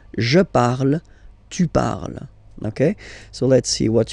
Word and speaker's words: tu parles: Then for tu, you will have to put es, okay? Phonetically, tu parles. So you've got the two first forms, you pronounce them the same way. You write them differently, of course, because you've got here, and then you've got and s, okay? But then phonetically, they are the same.